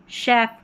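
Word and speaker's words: chef: तो यहां पर देखिए शेफ सी एच को श मशीन में सी एच को श यही कुछ स्पेलिंग्स हैं।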